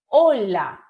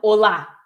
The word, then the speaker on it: hola: E aí é hola e não olá, que nem do português, tá? Sílaba tônica no o.